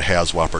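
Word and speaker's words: HAZWOPER: it could be as complicated as a 40-hour has whopper training course ha Whopper is spelled h a z w o p e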